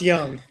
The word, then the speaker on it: Junge: Oh, I didn't even get to ask you, Junge, or no? Pronounced Young.